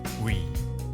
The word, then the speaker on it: ㅟ: Next is "ㅟ". Think of it as ㅜ plus ㅣ. So pronounce it as one syllable.